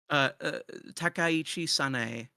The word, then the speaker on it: Takaichi Sanae: Takaichi Sanae.